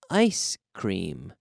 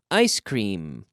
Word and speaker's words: ice cream: with the letter M the secret is you have to close your lips with the letter M otherwise it will sound like an N but no ice cream